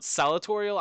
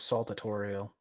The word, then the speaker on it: saltatorial: Yeah, Yahoo's pronunciation was saltatorial. Okay. So just a slight mispronunciation, because, I don't do that all the time.